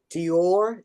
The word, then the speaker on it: Dior: Let's see if I pronounce this right. Dior, D-I-O-R, Dio.